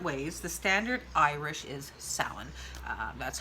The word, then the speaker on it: Samhain: is pronounced different ways the standard Irish is salan that's how I'm trying to train my brain on how to say it now it is soin the there's other guy lick dialects as well